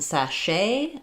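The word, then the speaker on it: sachet: We had a French theme last week in sache. My stress is on the sh syllable. The letter ch say the sh sound. Um, and then the t is silent.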